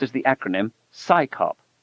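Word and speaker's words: CSICOP: Its initials CS O P are pronounced as the acronym SCAYOP, as if it's an organization of scientists performing a police function.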